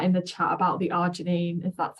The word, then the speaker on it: arginine: ARG, see if I can spell it. Arginine.